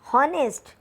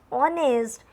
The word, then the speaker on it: honest: we should use n when the first letter is H and it is silent so before silent edge with use n like honest men we don't pronounce it honnest we should pronounce it honest and before honest we